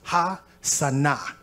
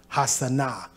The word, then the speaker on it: Hosanna: There's no O in ancient Hebrew, so it's actually pronounced Ha-Sana, Ha-Sana.